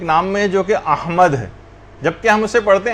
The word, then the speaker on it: احمد: یعنی صحیح تلفظ ہے، الف پر زبر ہے، ہا جو ہے وہ ساکن ہے، میم کے اوپر زبر ہے، اور دال جو ہے وہ ساکن، احمد۔ تو بعض اوقات اس